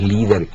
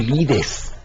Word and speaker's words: Lieder: Se pronuncia parecido pues al líder, ese líder político que anda por ahí. Bueno, líder, de manera que el plural no es ni leads ni lides, ni mucho menos leaders, sino el singular lead y el plural líder.